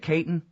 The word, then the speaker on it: Katyn: Is that how you say it, Katyn?